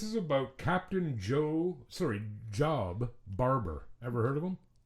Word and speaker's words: Job: Okay, so this is about Captain Joe Sorry, Job Barbour. Ever heard of him? Captain Job? J O B. Okay. Um I would thought it would be pronounced Job.